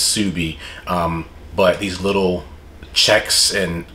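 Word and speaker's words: Ksubi: pick these pieces up the next piece is pronounced subie k-s-u-b-i um it's an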